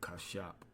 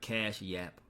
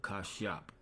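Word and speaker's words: Kashyap: All right, he is known as Cash across the world, but for the family, he is Kashap. All right, Kashap. Not Cash Yap, but Kashap. That's how you would say his name, all right, when we go to the Hebrew.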